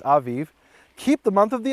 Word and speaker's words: Aviv: Some people in English pronounce it Aviv, but in Hebrew it's Aviv.